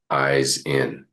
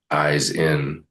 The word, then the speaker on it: Ihsan: Then after a few days comes up to me, he's like, "I got it. eyes in. That's how I'm going to remember your name.